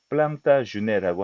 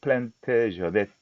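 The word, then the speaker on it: Plantagenet: 이게 이제 프랑스 백작이니까 프랑스 발음으로는 플랑타주네라고 하는데 영국 역사에 등장을 하니까 영어에서는 플랜테저넷 이렇게 말합니다.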